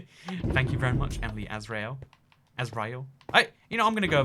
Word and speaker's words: Azrael: That's how you say it, Azrael.